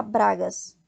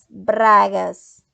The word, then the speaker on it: bragas: Então, a gente não fala bragas, fala bragas. Então, é bom sempre treinar a língua para vibrar e falar o R na pronúncia correta no espanhol.